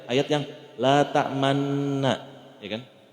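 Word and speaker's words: لَا تَأْمَنَّا: kita bacanya ayat yang la ta'manna, ya kan? Tulisannya la ta'manuna, tapi kita bacanya la ta'manna, tapi pas ngomong nunnya mulutnya harus monyong. Agak monyong dikit, la ta'manna.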